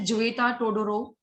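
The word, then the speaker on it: Tzvetan Todorov: जोएता टोडोरोव, टी यहाँ पे silent रहता है, जोएता टोडोरोव, Roman Jacobson, Jain मुक्रोस्की and rain वालेक।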